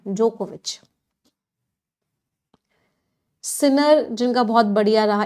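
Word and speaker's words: Djokovic: जो नवाक जोकोविच है इसमें ना डी साइलेंट है प्रोनंसिएशन जोकोविच सिनर जिनका बहुत बढ़िया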